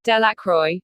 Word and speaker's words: Delacroix: Harry Jones and Dicky delaqua the villagers pronounce this name Delacroix eventually made a great